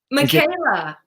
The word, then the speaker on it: Micaela: Micaela. Micaela. I keep wanting to say Micaela for my Spanish class in 11th grade.